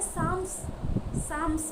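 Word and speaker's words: Psalms: मात्र ग्रीक रे जेहेतु सामोई कह जाउतला ता लाटिन रो आसी अछि तेणु ताकू बेस करके इंग्लिश रे साम्स बेली कहती। पी साइलेंट रोची साम बेली कहती।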